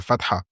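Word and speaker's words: فتحة: cours nous allons étudier la harak de la Fath il faut bien prononcer on dit la Fath nous avons dit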